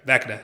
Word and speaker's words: Vecna: Isn't it Vecna? Vecna. Why did I think it was Veshna? I know it's... Okay, Vecna.